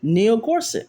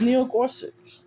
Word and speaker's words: Gorsuch: Neil Gorsuch.